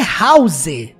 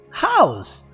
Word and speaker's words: house: Eu descobri que a palavra casa não é house, não, se pronuncia house, com um sonzinho de Z no final.